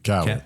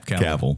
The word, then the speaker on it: Cavill: Cavill. Cavill. Rhymes with travel.